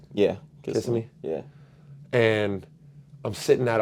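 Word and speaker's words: Kissimmee: was in Orlando Florida was it Kissam me is how you pronounce it yeah kiss me yeah and I'm sitting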